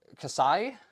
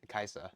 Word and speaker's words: Kai'Sa: So like it's going to be the Casai. How do how do you pronounce that? It's it's Kai Kaisa.